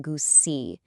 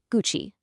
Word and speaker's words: Gucci: The classic mistake here is saying Gucci, but remember that rule we just learned? The G is hard, so it's gu, and the CI part sounds like chi. So you just put them together and you get Gucci.